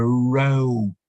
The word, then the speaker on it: row: despite the same spelling that can be a row you might have your students seated in rows meaning lines of something a row row meaning a line of something or if we change the pronunciation it's when you have an argument with somebody around is an argument uh same spelling different pronunciation different meaning and again this one